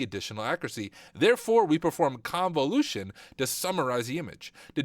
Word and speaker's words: convolution: times as needed the first step is Con convolution is actually how you say it convolution the math is about